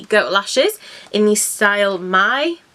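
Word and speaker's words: Mai: Lashes in the style My. I think you say it like My, M-A-I. I would say My, so we're going with My.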